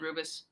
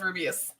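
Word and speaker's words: Rubeus: rubius for one oh I've always called said rubus no it's rubius okay you're this is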